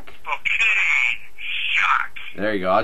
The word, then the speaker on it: Spokane: Spinac? Spokane Shock.